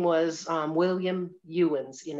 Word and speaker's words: Ewens: Well, this person actually, for instance, the man's name was William Ewens, and it's spelled E-W-E-N-S. It's not Evans, it's Ewen, E-W. So he actually was one that went to see the treasure when it arrived.